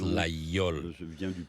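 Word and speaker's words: Laguiole: You can actually pronounce this Leol or Liel. Is that right? Yes. In the southwest of France, we pronounce Lol because this name comes from a local language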